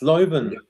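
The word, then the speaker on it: Leuven: Lovven. Belgium team. How how do you pronounce it? Uh it's Len.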